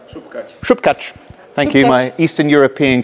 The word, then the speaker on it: Śupkáč: Śupkáč.